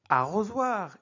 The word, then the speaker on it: arrosoir: Arrosoir. Ici, on prononce Z. Pourquoi? Parce que S est situé entre deux voyelles.